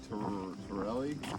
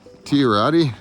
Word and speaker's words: Tiorati: How do you pronounce that park? What? Tiordi? This work? Yeah. Torelli? Tirati? Tiordi? Tiorati? There's no L in Tiorati Circle?